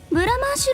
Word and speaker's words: Blancmanche: And besides, what's so great about the Blandmulch Conglomerate, anyway!? Mint: B...Blandmulch...!? Kazuya: Blancmanche! It's pronounced Blancmanche!